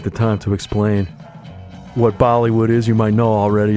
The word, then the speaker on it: Bollywood: y w o d rhymes with Hollywood uh the Hound posted